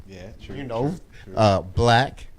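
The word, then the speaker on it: 6lack: Black, spelled S6 LACK. Yeah. Okay. He's, okay. Pronounced black.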